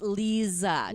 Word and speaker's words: Leza: having me you're welcome and it's Lisa just we'll just yeah we'll just get that right off the bat everybody everybody mispronounces it like that but that's okay I get